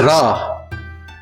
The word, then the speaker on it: ラ: This is ra.